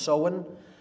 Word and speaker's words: Samhain: it looks like samhain in english but it's pronounced so in uh in gaelic and that is halloween or